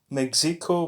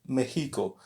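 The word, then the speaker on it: México: so here we have the letter X which is pronounced like the letter H in English so soy I am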